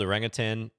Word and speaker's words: orangutan: they it is spelled orangutan but everyone pronounces it as if it was orangutan not me I don't include the g at the end it's also like a